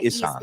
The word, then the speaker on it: Isan: Larb Thai Isan.